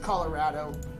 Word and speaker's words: Colorado: For the record, it's pronounced Colorado. Everyone local says it Addo.